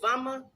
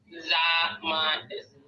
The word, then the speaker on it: Zama: And so, I don't want to mispronounce her name again because is it Vama? What is it? What's her name? Zama. It's almost like Da, but Zama.